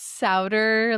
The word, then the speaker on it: Sauder: Is it Solder? It's Ser like rhymes with chowder which I'm sorry I didn't help you with that.